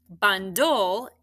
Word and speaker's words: bundle: and mark it up you scoop your syllables bun dol ban is what kind closed right with a short vowel and dull is consonant l e the only thing that i still have to do to market is cross off my silent e very good so let's